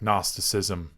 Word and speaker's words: Gnosticism: And we have to pay attention to the words that have a silent G, like Gnosticism and gnosis, okay? There's a reason that it's silent.